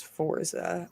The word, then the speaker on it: Forza: Year Edition get it it's American pronunciation is Forza um according to the